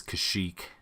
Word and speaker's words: Kashyyyk: just hear it again this is Kashyyyk not cuz right yeah and I guess